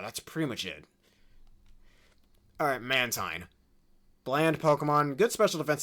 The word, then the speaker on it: Mantine: That and Mantine is the pronunciation, not Mantine.